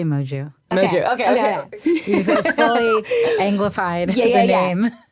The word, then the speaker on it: Moju: You made my name sound very foreign. French? I mean, yeah, I think technically it's Portuguese. Moju. I don't know how they say it. How do you say it? I say Moju.